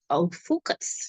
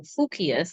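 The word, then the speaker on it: Ophiuchus: constellation per se of Ophucus, right? Or Ophucius, I think that's how they pronounce it, either Ophucus or Ophucius.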